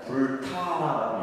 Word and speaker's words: 불타: 여기에다가 이제 이 글자, 이것을 뭐라 하냐면 불타라고 읽습니다. 그러니까 불타. 불타. 불타라 이렇게 읽어요. 우리가 읽을 때는.